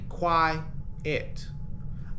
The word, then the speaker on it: quiet: the next adjective Now Quiet has two syllables okay if we place our hand under our uh chin we can say Qui it our chin moves twice why it all right that's why we have two syllables quite it all right